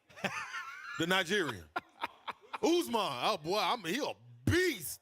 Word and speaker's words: Usman: Usman.